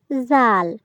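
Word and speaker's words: ذال: এবারে হলো জাল। এই হরফটির নাম হলো জাল। জাল আমরা জিহ্বার আগা সামনের উপরের দুই দাঁতের আগা থেকে নরমভাবে আদায় করব।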